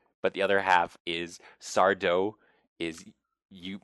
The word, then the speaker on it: Sardo: of the Dark with sardo no Mister Accent on the D and so she goes